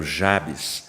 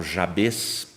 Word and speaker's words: Jabez: Bíblia que é o jabs Alguns falam jáês Tem gente que fala Javé e eu falo jabs ok então a gente